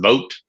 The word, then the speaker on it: Vogt: I learned today his name is pronounced Vogt, even though you're right, it's spelled like bot. But we'll see. Maybe I'm Sounds like wrong a on that French too. Canadian name. I thought it was like Voight, like John Voight or something myself.